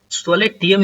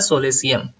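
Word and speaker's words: solatium: आज का जो हमारा फिफ्थ वर्ड है वो है सोलेसियम। सोलेटियम इसको ना पढ़े, इसका प्रोनाउंसिएशन होता है सोलेसियम, क्योंकि ये पार्ट्स ऑफ स्पीच के नाउन के अंदर आता है।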